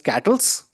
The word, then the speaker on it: KTLS: The other interesting project that has been developed as part of QBarmer is KTLS, or it's pronounced as Cattles.